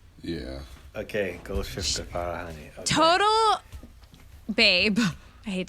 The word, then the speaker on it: Golshifteh Farahani: How dare you ask me to pronounce this again? Golshifteh Farahani? Yeah. Okay, Golshifteh Farahani.